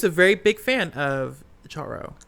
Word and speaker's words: Charo: very big fan of Charo. Is her name Charo? Mm-hmm. Okay. Charo. Sorry, I said it wrong the first time. You said it wrong, and now you've got It's Charo.